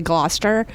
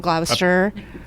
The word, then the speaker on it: Gloucester: tell how long did it take me to say Gloucester instead of glower it's still not quite